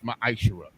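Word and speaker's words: מעשר: You can find this in Numbers 18 and 21, and Malachi chapter 3, verses 8 through 10, means 10th in the Hebrew, and it's pronounced ma'ashera.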